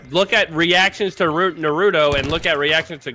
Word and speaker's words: Naruto: that's where you're wrong first of all it's pronounced Naruto hey you guys